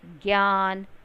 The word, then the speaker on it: ज्ञान: लेकिन कोई भी इसका उच्चारण ज्या नहीं करता, सब इसको ज्ञा बोलते हैं, जैसे ज्ञान, ज्ञानी, विज्ञान, है ना।